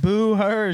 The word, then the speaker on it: Booher: comic I know is like, boo her, she's a girl, boo her. And I'm like, that's not About you. the H is silent.